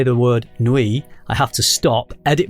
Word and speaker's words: nuit: And that's do you say nuit or nuit? I try and say it like a French person and say nuit.